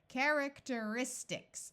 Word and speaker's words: characteristics: e but I noticed this e is followed by an r and e and r together usually say ER so let's let's switch to ER character oh that's like the root here character characteristics oh I recognize that